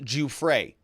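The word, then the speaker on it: Giuffre: one and another one he says virginia's name is pronounced ju frey sorry i had to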